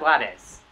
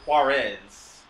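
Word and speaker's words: Juárez: It's Ciudad Juarez. Yeah, but he Juarez. But he pronounces it like Yahtzee does. He pronounces it Juarez. Juarez with a thickness in your throat.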